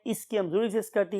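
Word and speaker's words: ischium: दूसरी का नाम क्या था, इस्कियम, और some people pronounce it एज इस्चियम, and last bone is called as the pubis.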